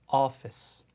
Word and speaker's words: office: 되는 거죠 그래서 Fold 따라해 보세요 Fold음 그다음에 office Office 이렇게 가시면 됩니다 예 자 이거 기본적인 것은 자음 원 어 발음을 들어보시면서 같이 한번 또 해보도록 할까요 자